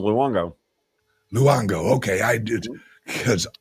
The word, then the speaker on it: Luongo: Just the way it's spelled, Luongo.